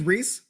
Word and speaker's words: Rhys: My name is Reese. That is how you pronounce that, although I never bought a vowel.